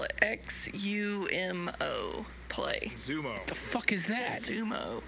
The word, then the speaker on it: Xumo: I'm just going to spell it XUMO Play. Zumo.